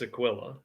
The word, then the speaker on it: Aquila: uh no i know the rule unless you see an accent mark on the a it's aquila okay maybe uh maybe